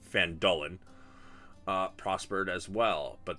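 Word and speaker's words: Phandalin: and nearby human town this one obviously um van Dolan apparently I've been pronouncing it wrong for the last several months uh it's fandolin uh prospered as well but then disaster struck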